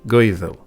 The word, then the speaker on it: Goidel: Though there were hundreds of tribes and kings, they were all Gaels, pronounced in Old Gaelic, Gaedhil, and they spoke a common language, Gaelic, Gaelga today, for which they held a great love.